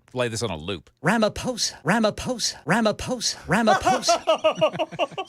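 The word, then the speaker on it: Ramaphosa: Ramaposa. Ramaposa. Ramaposa. Ramaposa. So there's an H in there. Yes, sir. It's R A M A P H O S A. So you thought the PH was an F?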